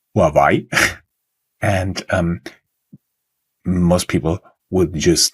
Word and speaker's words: Huawei: And there was a lot I didn't know about Huawei, which in Germany is actually pronounced Huawei.